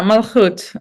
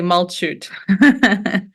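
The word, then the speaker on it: Malchut: beyond my pronunciation there it's malut or how is that word pronounced yeah yeah malut um oh that was just close just a little bit off actually pronounced it great usually people say Malo yeah I figured that CH should be read as exactly am I right in that thinking yeah right yeah the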